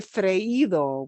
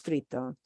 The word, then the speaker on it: frito: There were a lot of people who would say freído, which was technically incorrect, but so many people say it wrong that, yeah.